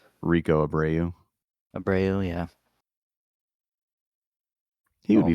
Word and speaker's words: Rico Abreu: But maybe Ricky Abreu, or however you say his name. Rico Abreu.